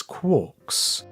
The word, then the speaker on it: quark: referred to the subhadronic fragments as quarks rhyming with pork but he never considered